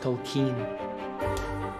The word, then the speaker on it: Tolkien: It's pronounced Tolkien.